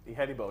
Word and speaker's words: Ihedigbo: Ihedigbo, you were listening, right?